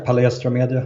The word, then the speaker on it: Palestra Media: Is it Palestra Media? Is that how you say it? Yeah, Palestra Media.